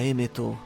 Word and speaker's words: Emeto: Joy Boy simply tells the Iron Giant, "Ika emeto, izatte toki da." In the first half, we get an actual name for the Iron Giant, being Emmet. In Japanese, it's pronounced as Emeto, but it may be